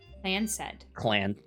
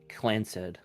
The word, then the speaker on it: Clanced: The Clanced pronounced Clan SED, so Clanced. Clanced.